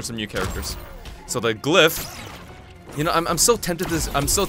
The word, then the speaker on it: glyph: right but then the L comes before the Y so it's glyph I I actually didn't